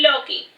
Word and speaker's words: Loki: I am Loki, pronounced Loki.